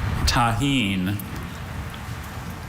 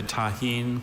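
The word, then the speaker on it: tajín: Tahine.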